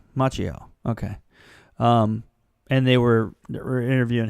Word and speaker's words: Macchio: How do you pronounce his last name? Macchio. Macchio.